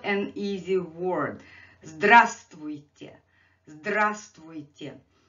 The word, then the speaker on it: Здравствуйте: Здравствуйте. Здравствуйте. And here I have this letter V in a parenthesis, because again, this is kind of silent letter.